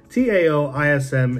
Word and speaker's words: Taoism: Taoism, it's spelled T-A-O-I-S-M in the West, but this is actually the wrong translation. It's pronounced Taoism, and it comes from ancient Chinese philosophy.